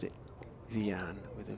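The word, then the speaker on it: Wiaan: Have to find out whether Rian, it is spelt with a W, but it may be pronounced with a V.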